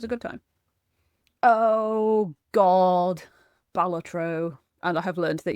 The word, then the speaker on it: Balatro: good time oh God balatro and I have learned that you are supposed to pronounce it balatro not batro balatro not batro I